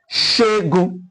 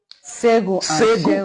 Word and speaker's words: Segun: Shegun. Okay. Olusegun. Someone from Osun State we pronounce Olusegun. Segun. Okay. Segun and Shegun.